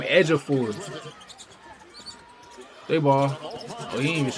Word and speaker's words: Ejiofor: That's how you say his name Edgeafor.